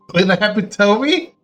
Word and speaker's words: epitome: With epitome? And I guess I didn't learn it. I'm sorry. Let's not make this a completion. Look, that word is a good point too. This is on the second syllable.